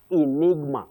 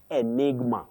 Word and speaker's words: enigma: That G is pronounced.